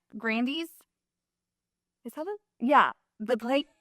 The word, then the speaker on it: Grande: name right yeah actually everyone's been saying her name wrong for like ever since she's been famous it's actually Grandy what yes I learned like fast food restaurant Grandy's is that yeah the